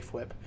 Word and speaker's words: Fwip: I took a lot of inspiration from Pixlriffs and Fwip, and I know he pronounces it just Whip or F-Whip, but I like to say Fwip.